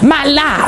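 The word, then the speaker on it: מָלֵא: So he says in Genesis 1:28, "And God said multiply and replenish," and that word replenish, the Hebrew there is pronounced malah or malay, which means to be full or being completed or conform or fullness or accomplished.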